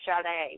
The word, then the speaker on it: Sade: name I was like I hope she pronounced it like shet because how cool would that be and I'm even more excited that I got it right so I'm so glad